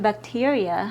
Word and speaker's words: bacteria: The I in bacteria has a long E sound, but the E in bacteria has a short I sound.